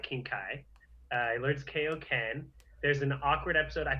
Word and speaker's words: Kaioken: It's Kaioken. Well, it's pronounced both ways. People pronounce it both ways. It's whatever. Kaioken. Okay, it's like King Kai. It's not like King K. It's King Kai.